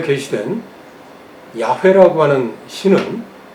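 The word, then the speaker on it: 야훼: 교수님이 2 하나님의 이름 기독교에서 말하는 하나님의 이름을 발음을 이렇게 해라 그래요 역 이렇게 끌어다가 야 이렇게 그야 끄라고 하는 침 야외 혹은 여호와 라고 우리에게 게시된 그 신은 어떤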